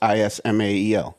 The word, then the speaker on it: Ismael: What is it? Ishmael? Ismail Sazo. Spell it. Ishmael. It's Ismael. Yeah, nailed it.